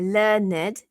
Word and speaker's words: learned: there with a t take note however that learned a learned with two syllables there is the only correct form to use when using the word as an adjective so learned usually appears